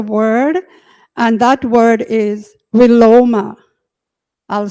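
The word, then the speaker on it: viloma: came across a word and that word is willoma I'll spell it for you v-i-l-o-m-a that's the Sanskrit word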